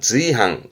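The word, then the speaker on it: 随伴: 수시로 쓰는 수필의 숫자기도 하고 그럼 지금은 수반인데 발음은 지항, 지항.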